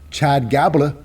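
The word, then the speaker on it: Chad Gable: No longer is Otis tag team with, Chad Gabla. Rhymes with Tabla.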